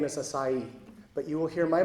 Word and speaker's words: Asai: And it seems that the Yonsei are all returning to the proper Japanese pronunciation of the name, which is Asai.